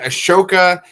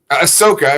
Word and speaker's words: Ahsoka: again then you had friggin ashoka ahsoka if you could say her name right uh grogu the mandalorian